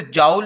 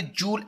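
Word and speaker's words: joule: ये साइंटिस्ट का नेम है डियर स्टूडेंट, इसे जाउल नहीं प्रोनाउंस करना, ये जूल एक्चुअल वर्ड है।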